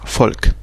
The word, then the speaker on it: Volk: par exemple V qui se prononce F donc fa euh donc le par exemple le comme on a dit le mot folk ça ça s'écrit avec un V mais ça se prononce folk peuple comme Volkswagen.